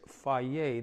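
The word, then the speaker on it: Fage: taught me it's not phage it's not phage it's fairy that's how we pronounce it in the greek we're going to use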